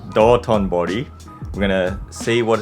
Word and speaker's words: Dotonbori: Dontonbori. Dotonbori.